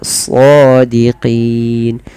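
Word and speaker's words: صَادِقِينَ: Melafal shadiqin, tebalkan sodnya karena dia bukan so, dia so ya, shadiqin.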